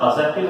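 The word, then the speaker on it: adjective: ध्यान रखना, इसका प्रोनाउंसिएशन एडजेक्टिव होता है, डी साइलेंट रहता है जब ए और जे के बीच में आएगा।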